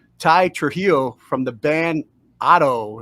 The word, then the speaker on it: OTTTO: Trujillo from the band Otto is that the right pronunciation yeah that's correct what's up how you